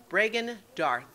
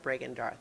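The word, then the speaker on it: Bregan D'aerthe: on the crate again what was the name Brean Darth which um I think as a Dr uh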